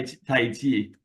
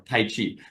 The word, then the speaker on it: Tai: feels comfortable for you even Tai taii is more of a better pronunciation but we call it in America more taii right you which is